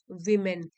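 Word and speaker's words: women: की भावना को बढ़ाना assuring the dignity of वीमेन assuring सुनिश्चित करना डिग्निटी हो गया गरिमा और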